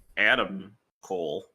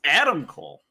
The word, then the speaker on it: Adam Cole: But now that Adam Cole, I don't know why I put the emphasis on the wrong syllable there. It's Adam Cole.